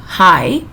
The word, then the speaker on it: high: g s it's her i g h no sound okay so we read it as high up into the skull